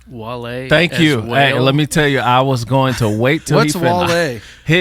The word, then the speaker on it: Wale: He kept saying, "Yeah, I'm sending the whale files," and everybody was like, "What?" Was it me? But yes, it's pronounced Wale.